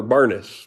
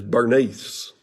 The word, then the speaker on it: Bernice: Now, my grandmother had this same name, but we called her Bernice, but I think the correct pronunciation here in the King James Version is Bernice. So, but I'd never heard anybody call my granny Bernice. It was Bernice.